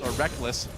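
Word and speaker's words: Rekkles: Technically, it is written Reckles. Yeah. It is. You spell it phonetically. All the way back in his first major tournament, IPL 5, the Reckles and Reckless debate was in full swing. I still want to call him Reckles, but I've just gotten so used to calling him Reckless because he says so.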